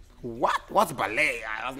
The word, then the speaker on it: ballet: like ballet but it's it's spelled ballet I don't know why why is that so the T silent T silent yeah so how does your